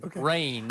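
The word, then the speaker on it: Reign: And it's spelled R-E-I-G-N. Rain.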